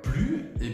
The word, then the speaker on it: plus: Premièrement, quand est-ce qu'il faut prononcer le S? Alors, on va commencer par ça. Tu vas le prononcer uniquement lorsque plus signifie une addition.